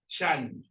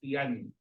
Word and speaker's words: tiyan: Okay, now, in Filipino, we pronounce this as Chan. Chan. Okay, but in our dialect, which is Bisaya, we pronounce it as Tiyan.